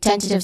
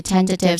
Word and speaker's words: tentative: Pronunciation wise, we start with ten, which has a short S sound, and then t, which has a schwa sound, quick and stressed vowel sound, and then you end with tiv, which has a short E sound. So this is tentative. Again, tentative. The first syllable is the stressed syllable here, ten.